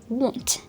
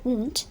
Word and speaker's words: want: Okay, now let's talk about the third word, ওয়ন্ট।